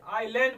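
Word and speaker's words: island: चलो ठीक है, आई और यल के बीच में यस है, इसे क्या पढ़ेंगे बताओ, यस का उच्चारण नहीं किया जाएगा, क्या पढ़ेंगे, आईलैंड पढ़ा जाएगा।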